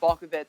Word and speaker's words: Balkovec: So it's actually pronounced Balkovec, just to be clear.